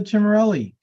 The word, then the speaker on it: Cimorelli: thank you congratulations chimarelli hi good afternoon I'm Cimorelli and uh no you you pronounced it more like the Italian way so kudos to you